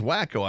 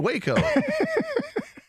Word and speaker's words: Waco: Texas yes Austin Houston here's Dallas is that pronounced cumin right human Camino I mean Corpus Christi right Christmas is Corpus Christi here's wacko I mean Waco a very sexy lady here's Waxahatchee Waxahachie ladies